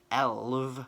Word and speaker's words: elf: or ghost, and then elv, which is just elf but with the F pronounced in the Welsh way, which is v, is how we say element in Welsh, elv.